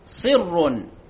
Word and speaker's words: صر: الدنيا كمثل ريح فيها صر، صر أصابت حرث قوم. كلمة صر ليست صر بفتح الصاد بل بالكسر، صر أصابت حرث قوم ظلموا.